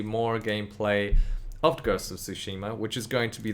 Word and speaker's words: Tsushima: Tsushima, man. Tsushima, like T sushi. is silent.